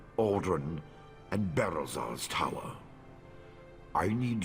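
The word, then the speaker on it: Ald'ruhn: of these sites since I've been pronouncing these two wrong the entire time I was saying Bal Mora and Al run all right unless he's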